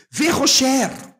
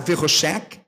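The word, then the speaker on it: וחשך: Verrocher. Veja, você pode pronunciar Verroshek, porque o Raf Sofit pode ser pronunciado como um K.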